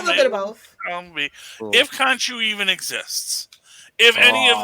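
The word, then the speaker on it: Khonshu: kanju that we're observing actually kanchu or kunsu as some people on the internet say his name should be pronounced i don't know i'm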